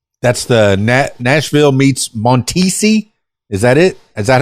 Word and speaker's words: Montisi: Nashville after that that's the na Nashville meets montisi is that it is that how you pronounced it oh fantastic yeah it is you